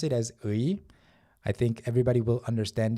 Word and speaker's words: 의: When it's used as of, it's very, very commonly pronounced as 에. So at first, if you're not sure, just pronounce it as 의.